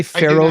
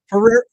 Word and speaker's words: Ferrero: If I say Pharaoh group, do you know what the F rer O? Does that give you a hint? Oh, Ferrero. The chocolates. Ferrero, you're right. I'm saying it wrong.